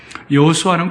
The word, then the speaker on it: 여호수아: 여호수아는 구약의 히브리어식 발음으로는 여호수아고 신약의 헬라식 발음으로는 예수 예수님입니다.